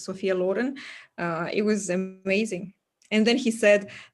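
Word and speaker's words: Sophia Loren: from um Sophia Lauren we say sop Lauren but she's Italian it's the proper way to say her name is Sophia Len uh it was amazing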